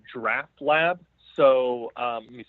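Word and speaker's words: Draught Lab: So it's called Draft Lab. So let me spell it for you. It's DRAUGHT, like draft beer, and then lab, all one word.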